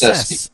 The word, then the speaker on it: Sesti: It's Sesti. S-E-S-T-I.